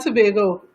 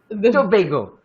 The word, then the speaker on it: Tobago: In Trinidad and Tobago. Tobago.